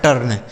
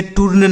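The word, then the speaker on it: turn: ये लिखा है टर्न। इसे क्या पढ़ा जाएगा? टर्न। ठीक है? इसे टूर्न नहीं पढ़ा जाएगा ना तो टर्न पढ़ा जाएगा।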